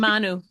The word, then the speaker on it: Manu: Manu Faces the Music. Manu.